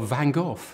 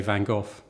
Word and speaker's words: Van Gogh: the Americans Van Gogh and in England we've settled for Van Gogh but he was Dutch and I've spent hours with Dutch people trying to get this right it's something like van Hojo but it's not that easy so I'm happy to say Van Gogh I'm and